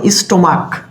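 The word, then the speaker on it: stomach: করব দেখো এখানে দেখো স্টমাক সিএইচ আছে কি কিন্তু উচ্চারণ হচ্ছে কিসের মতো ক এর মতো চ এর মতো না হয় কিসের মত হচ্ছে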